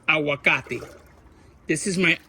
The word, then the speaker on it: aguacate: a Spanish word, and I hate it when I mispronounce it. You know, like I say like if I'm a gringo. It's aguacate. This is my aguacate tree.